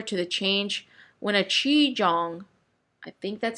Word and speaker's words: qigong: This kind of change is similar to the change when a qigong, I think that's how you pronounce it.